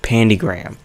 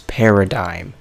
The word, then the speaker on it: Paradigm: was pronouncing this wrong it's not not pigram it's Paradigm I'm so stupid 42 episodes